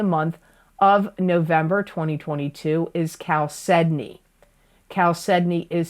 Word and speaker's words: chalcedony: where in the month of November 2022 is Cal Sydney Cal Sydney is spelled I'm going to spell it because people always ask me to spell it c h a l c e d o n y chalcedony it's a nurturing Stone chalcedony promotes Brotherhood